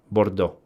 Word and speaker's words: Bordeaux: Yeah, but I understand that you always do not uh do not pro pronounce this last part if it's a so you just simply don't don't pronounce it. Bordeaux.